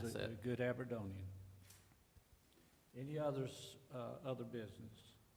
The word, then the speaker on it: Aberdonian: his family he was a great Aberdonian and that's the right way to say it he uh he served